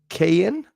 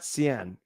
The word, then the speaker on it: Kian: K Ian? Australia. Okay, I can say the Australia part right. Yes. Thank you for watching from Australia. But you pronounce it Kian. Oh, Kian. Not Cien. Kian.